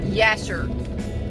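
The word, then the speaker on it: Jasher: also the Bible refers to the book of Yasser spelled with a J but it's pronounced with this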